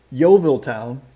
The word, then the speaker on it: Yeovil Town: so uh how yeah so how about um yeovil town uh am i pronouncing that right yeah that's correct yeah yeah